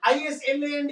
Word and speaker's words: island: Like they taught us is L and D is island.